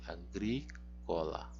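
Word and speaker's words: agricola: vamos por parte e onde é que cai então assento de agrícola caillou gire o assento a sílaba tônica está aqui agrícola e também está aqui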